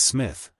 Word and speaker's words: Psmith: reveal to you is Smith the p is silent and until very recently